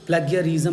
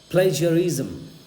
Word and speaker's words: plagiarism: That is, ये प्लेगियरिज्म नहीं है, पहली दफ़ा पढ़ने में यही लगता है प्लेगियरिज्म, गलत। दिस इज़ प्लेजरिज्म या प्लेजरिज्म, प्लेजरिज्म। बहुत लोग इसको इज़्म पढ़ते